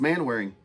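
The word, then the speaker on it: Manwaring: spelled no I mean I mean it's it's pronounced man wearing a member of them too Kirkman wearing uh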